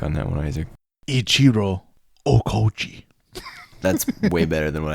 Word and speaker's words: Okauchi: Ichiro Okauchi. That's way better than what I did. That's how you pronounce it.